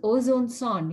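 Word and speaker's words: ozonesonde: And what is ozone sond? You have to say it like O, zone, sond.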